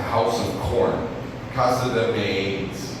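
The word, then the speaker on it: maíz: I passed a house of corn, casa de maiz, right? Is that something Your Spanish is better. Is that how you pronounce it? Casa de maiz?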